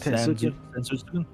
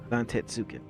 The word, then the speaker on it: Zantetsuken: I always have problems fucking pronouncing that move with Zensuken. Yeah, Zensuken. How to say it again? Zantetsuken.